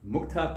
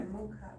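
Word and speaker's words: मुख: You're saying mukta, but it's mukha.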